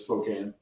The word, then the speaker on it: Spokane: a.m central is spokane it's spelled spokane but it's spokane we're from texas we say things the way they're spelled spokane smoking hello friends